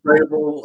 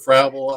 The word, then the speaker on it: Frabul: is no botching it I pronounce it Frable everyone else pronounce it frabble I don't know whatever you want to pronounce it just don't